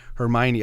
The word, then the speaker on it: Hermione: in the books, and I was reading something like Hermione. I don't know, it's spelled kind of differently. So then I finally saw the first movie and I was like, oh, okay, her name is Hermione. I've been saying it wrong in my head all this time.